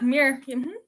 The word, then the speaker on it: Muir: meet Emily Muir hi did I get that right yeah mirror okay perfect yeah I actually found a video where you said your name so I could learn how to pronounce it awesome the famous John Muir you don't know it